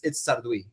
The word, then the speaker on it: Sarduy: Well, it's that's how my second grade teacher pronounced it in Miami. So I'm like, that's how they say it in America. That's what they say. It's Sarduy, which is still French sounding.